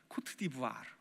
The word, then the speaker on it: 코트디부아르: 코트디부아르. 불어를 좀 해야 이 발음이 나옵니다. 코트디부아르.